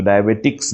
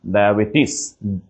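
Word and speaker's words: diabetes: jaundice বান এক্সজিমা বানান মাঝখানে হচ্ছে ডায়াবেটিস কিন্তু ডায়াবেটিক্স না ডায়াবেটিস ওকে ডিথিয়াটাইসিস এবং রামাটিজম ক্লিয়ার রোগের নাম আমাদের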